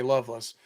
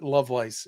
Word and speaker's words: Lovelace: Northerners they call me Loveless but to the people in the South they call me Lovelace no I'm just messing we pronounce it my family pronounces it Lovelace yeah just like yeah